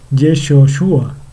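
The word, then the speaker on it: ישוע: sus hijos usa yehoshúa perdón que realmente se pronuncia yeshua sí o la abreviatura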